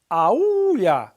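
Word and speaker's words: aúlla: Aulla, accent on that U.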